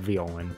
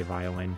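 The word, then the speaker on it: Violen: Yes, I pronounce it Violan. Probably a lot of people say violin, but it's spelled with an E. So, Violan.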